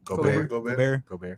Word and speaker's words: Gobert: Gobert.